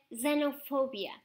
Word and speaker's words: xenophobia: A palavra de hoje é xenofobia. Sim, ouviram bem, xenofobia. Mas afinal, se começa por X, porquê é que lemos este X como se fosse um Z?